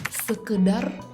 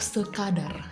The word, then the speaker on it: sekadar: Sekedar atau sekadar? Sekadar. Aku tahu ini karena dulu pernah dibenerin sama I yang bilang kayak yang benar sekadar.